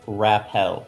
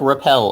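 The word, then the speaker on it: rappel: we can have the it's pronounced like repel apparently it's just spelled really weird MH okay what are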